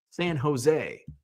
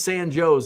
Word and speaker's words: San Jose: um yeah so it's they're all spelled like uh San Joe's Illinois you would think oh San Joe's Jes no it's San Jose but it's San Joe's in Illinois uh um what just